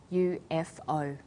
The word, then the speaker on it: UFOs: UFOs is pronounced UFOs we usually say you f oh that's all for study